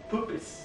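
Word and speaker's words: Puppis: Or from Latin, poopis. But it's spelled like puppies. P-U-P-P-I-S.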